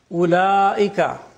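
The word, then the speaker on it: أولئك: Ulaika, the waw is not pronounced.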